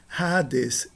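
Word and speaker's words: ᾅδης: Então nós vamos pronunciar simplesmente Hades e ignorar o iota.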